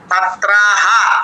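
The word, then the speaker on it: ছাত্রাঃ: হবে ছাত্রা ছাত্রাহা বিসর্গার উচ্চারণ স্পষ্ট করে সমৃত পঠি ঠিকই আছে আপনি লিখেছেন ঠিকই কিন্তু আমি আপনার কাছে শুদ্ধ উচ্চারণটা শুনতে চাচ্ছিলাম ঠিক আছে আচ্ছা দু নম্বরে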